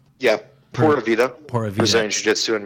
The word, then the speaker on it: Pura Vida: Is it pronounced Pura Vida? Yeah, Pura Vida.